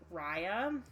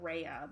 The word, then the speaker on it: Raya: would buy her, is Raya. I keep on wanting to call her Raya, but I think in the movie it's pronounced Raya.